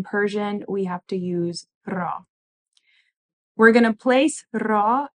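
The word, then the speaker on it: را: marker but in Persian we have to use ra we're going to place Raw After the noun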